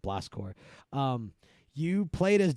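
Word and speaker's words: Blast Corps: that it was called Blast core blast course uh spell you know the same way military spells it so it's spelled corpse right um hold on I'm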